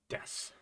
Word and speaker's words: です: our first grammar Point Sue becomes just an S sound in the case of death so okay well what